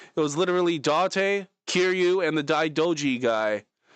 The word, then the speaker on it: Date: Dante, spelled like date. Dante sounds French. Yes, except there's no uh because there's no like little thing above the e. So that's why it's Japanese.